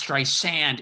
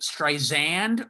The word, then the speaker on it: Streisand: Pronounce it like an S, Streisand. If you say Streisand with like a Z, you're done with her.